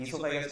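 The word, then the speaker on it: oesophagus: इससोफेगस क्या इसमें ओ साइलेंट रहता है। इसको इससोफेगस ही पढ़ते हैं।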